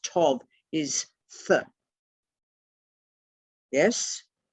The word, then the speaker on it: Tau: t-a-u and tau pronounced tov is th yes but it can also be pronounced tur if it's at the beginning of a word that gets a bit